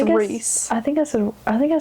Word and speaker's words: Rhys: But now that I look at it, I don't know why I thought it was Rise when it clearly is Reese.